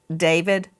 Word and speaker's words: D4VD: What a coinkydink that David, some people look at his name and it looks like D4VD, and he pronounces it David.